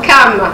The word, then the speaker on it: Cham: L'origine de mon nom, c'est écrit C-H-A-M, donc et ça se prononce Cam, donc ça vient de l'hébreu. Oui. Cam qui veut dire noir.